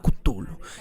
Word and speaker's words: Cthulhu: y algo siempre cultural que se tiene que pronunciar desde la garganta título casi como si fuera un golpe turno futuro el problema